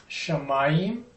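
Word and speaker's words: שמיים: of is Ru Heaven shamayim the accent on the second syllable shamay the word pair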